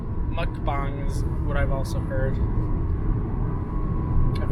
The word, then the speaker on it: mukbang: our new channel dedication book bang so you pronounced that right mukbang what I've also heard I've only heard white people call it monkey bay please please cut so right before we started